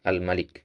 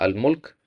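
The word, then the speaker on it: الملك: Ketika kita mengatakan bahwasanya dia adalah Allah ya dia adalah al-malik. Kalau dia adalah almulk ya kan enggak nyocok ya. Dia adalah kekuasaan ya kan enggak pas. Maka ini bacanya al almalik.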